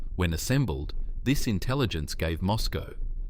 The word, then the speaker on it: Moscow: However, when assembled, this intelligence gave Moscow, pronounced Moes CO, a comprehensive picture of American military modernization programs.